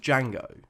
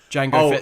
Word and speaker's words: Django: well, if they're all clones of Django, right? Then surely they're never really rookies. Why don't they look like Jamie Foxx? I was thinking the same thing. It's true. Yeah, the D is silent.